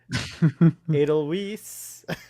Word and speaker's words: Edelweiss: I was like, it's not a different pronunciation, it's just wrong. It's a German word. Edelweiss.